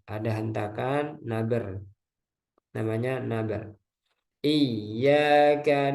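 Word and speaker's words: إِيَّاكَ: Iyyaka na'budu wa iyyaka nasta'in. Ya, jadi Anda pernah dengar bacanya itu iya karena nah itu nggak boleh. Pernah ya seorang imam membacanya iya karena budu wa iya karena nasta'in itu salah ya dan jali.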